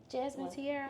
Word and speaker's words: Jasmine Tiarra: o did I did I say it wrong Jasmine tiar yeah you said that right okay okay what's